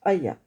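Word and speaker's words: היה: Alors, donc le yod, la racine c'est donc le et yod et c'est aya. Ça se prononce aya.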